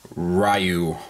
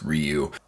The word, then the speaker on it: Ryu: today we are looking at the sh figuarts rayu or as it's properly pronounced Ryu My Buddy Joe always gives me a hard